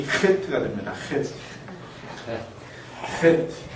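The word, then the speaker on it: חית: 붙으면 이 헤트가 됩니다. 헤트. 헤트. 네. 이것도 우리말에 없는 점이기 때문에 한번 따라해 볼까요? 헤트. 독일어의 이 발음 있죠? 그것과 같은 것으로 보시면 됩니다.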